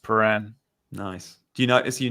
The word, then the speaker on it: Prahran: It's pronounced Prahran.